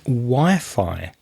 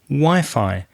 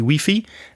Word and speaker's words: Wi-Fi: and fidelity wireless fidelity wi-fi be careful of the pronunciation it's not pronounced in the same way as spanish you say wifi and we say wi-fi wi-fi connection craig are